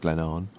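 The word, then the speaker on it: Glen Avon: there and started down Glenn Haven which is pronounced Glennon by the river aen which is nothing like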